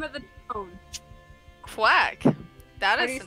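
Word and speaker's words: Qwac: Quack. That is the name of the town. Q-W-A-C. Q-W-A-C? Yeah, but it's pronounced like the normal spelling of quack.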